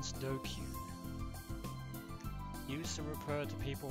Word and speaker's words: DQN: DQN. Net slang used in the 2000s. Pronounced Dokyu.